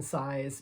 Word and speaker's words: Saiz: he's the artist so jonathan size but it's spelled s-a-i-z um jason gruel the